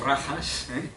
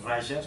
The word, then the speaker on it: rajas: rayas y tazas actual no lo pronunciamos a la manera española más a la manera portuguesa si le decimos rajas la jota en sánscrito es como suena como en portugués es rayas por lo tanto y